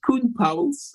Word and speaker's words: Koen Pauwels: is 2001 right so my name is pronounced kun powell's i'm a dutch-speaking belgium but they thought that colin powell was joining them and it's close and so you can